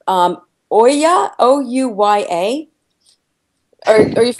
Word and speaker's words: Ouya: And I'm not sure if I'm pronouncing this right. Ouya, O-U-Y-A.